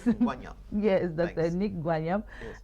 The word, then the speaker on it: Ngwanyam: I think I said it right. Ngwanyam. Yes. Ngwanyam.